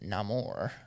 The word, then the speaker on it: Namor: Tennera Mija as Neore or Neymar. Neymar. Um, well, in the movie he pronounces it Namore.